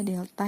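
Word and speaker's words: Δ: Nah, rumusnya itu ini, M sama dengan, ini dibacanya delta ya, delta Y per delta X.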